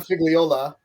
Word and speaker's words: Figliola: bring in Mike anyway hi Mike hi I'm figola you call me fig that's totally fine what